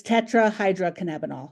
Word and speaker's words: tetrahydrocannabinol: out at this moment if anyone can properly pronounce it, but it's tetrahydrocannabinol.